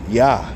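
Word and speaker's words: יה: That's how you say it, Yah in Hebrew, Yah, the apostrophe.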